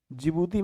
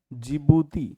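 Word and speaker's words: Djibouti: जिबूती में दोस्तों D silent है, थोड़ा ध्यान रखिएगा। जिबूती, इट्स कॉल्ड जिबूती, हम लिख दे रहे हैं जिबूती।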